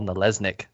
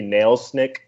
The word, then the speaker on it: Nalesnik: And without further ado, welcome Paul Nalesnik.